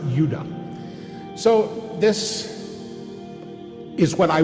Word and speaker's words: Judah: were called benjamin and judah more properly pronounced yudah so this is what